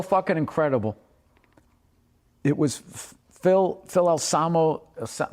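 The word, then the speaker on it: Anselmo: It was Phil Alsamo, is that how you say it? And Alsamo, yeah.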